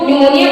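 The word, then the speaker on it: pneumonia: के पहले आता है अगर पी के बाद एस ई या एन आए तो पी साइलेंट होता है जैसे पी एन ई यू एम ई एन आई ए न्यूमोनिया इसको हम न्यूमोनिया बोलते हैं दूसरा है आर ई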